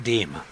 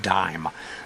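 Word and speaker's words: disme: coin was called the half deem d i sme. Uh rather than the French pronunciation, the Americans call that coin half dime. They dropped the s.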